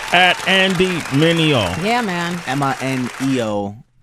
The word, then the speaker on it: Mineo: Mineo. You wouldn't believe how butchered my name gets. It's phenomenal. Yeah, I remember. I used to butcher it. Maneener Niner. Yeah. Mineo. Mananays. Mineo. Yeah.